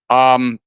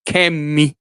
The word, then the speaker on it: Kemi: She's not Kemi. She's Kemi, and that's the way they pronounce it. She's Kemi Badenoch.